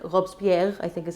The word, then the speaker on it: Robespierre: And mind you, that was because those who then took power, not Napoleon, those before him, like Robespierre, I think is how you say his name, a lawyer, a fellow lawyer, were corrupt as well.